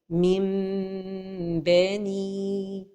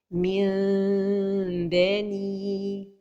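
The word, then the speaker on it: مِن بَنِي: La première erreur est de laisser les lèvres fermées. Mim beni. La deuxième erreur est de trop séparer entre les deux lèvres. Min beni. Et la prononciation correcte se fait en laissant un tout petit espace entre les lèvres tout en prononçant la rouna.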